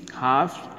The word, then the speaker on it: half: सो टू our today's chapter is हाफ and quarters, yes, इसको क्या बोलते हैं? हाफ्स, क्या बोलेंगे? ये है ना प्लूरल है, इसका सिंगुलर क्या होगा? HALF, हाफ, ये L साइलेंट है, हाफ, HALF, ओके?